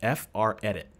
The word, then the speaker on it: FRedit: And he has one particular macro, it's called FR edit. He pronounces it, I believe, fredit, kind of like a friend macro.